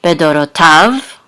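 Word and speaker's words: בְּדֹרֹתָיו: And this is an etnachta, so the accent is on the last syllable, bedorotav, and this is the end of this clause.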